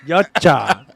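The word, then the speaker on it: Yautja: see the yach Y is that how you say it yacha I had a Google pronounced it for me Y yacha what do you think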